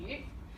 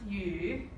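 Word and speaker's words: 雨: This is yu. Yes. And this is the word for rain in Chinese, and it's pronounced yu. Yu.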